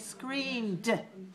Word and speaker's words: screamed: And the affirmative in the past tense is screamed. We add ed. So we spell S-C-R-E-A-M-E-D. But we don't add an extra syllable. We only add the sound d.